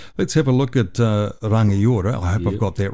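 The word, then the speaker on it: Rangiora: way back when that the NG it's a bit like when you say sing, your tongue hits the roof of your mouth. And it's like, so it's not na, it's nga.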